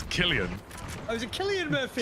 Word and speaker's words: Cillian: Cillian Murphy, yeah. Did you just say Cillian? Cillian Murphy. It's Killian.